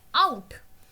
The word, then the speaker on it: ought: इसका प्रोनाउंसिएशन होता है आउट, लिखते हैं OUGHT।